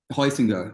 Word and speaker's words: Heusinger: But so talk about Adolf Husinger. Is that how you pronounce it? Yeah, Heusinger.